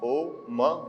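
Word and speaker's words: ॐ: ओम अब साढ़े तीन अक्षर आप समझो कि हुए क्या? आ, ओ, म ये तीन हो गए।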